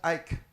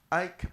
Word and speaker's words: Ike: He's fondly called Ike, pronounced Ike by family members, Ike by close friends, and Iko by colleagues at Zoology and Environmental Biology Department here in the University of Nigeria, Nsukka.